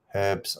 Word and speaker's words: herbs: drop too many letters herbs are still pronounced with the H yeah we say hate we say h we say herbs here yeah let's drop the